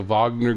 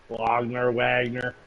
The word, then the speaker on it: Wagner: Wagner. Fuck, who cares? I think Wagner sounds more badass. No, Wagner sounds worse. Guttural. Wagner, yeah, Wagner. I guess, guttural. yeah. They don't pronounce fucking W's; they pronounce V's.